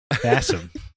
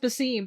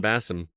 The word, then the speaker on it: Basim: game we made anyway Bassam Bassam not Basim because I I did I was like oh it seems like it would be pronounced bassim but they pronounce it bassum yeah yeah I guess